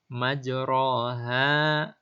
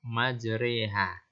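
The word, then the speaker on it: مجراها: majreha wa mursaha majroha dibaca majreha pada lafadz majroha maka cara membacanya majreha menurut Imam warasy beliau memberi contoh untuk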